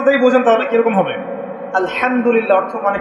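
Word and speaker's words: الحمد لله: উচ্চারণ কোথা থেকে করতে হয়? মাঝখান থেকে। মাশাল্লাহ। এখানে যদি আপনি আলহামদুলিল্লাহ বলেন অর্থ হচ্ছে সমস্ত প্রশংসা কার জন্যে?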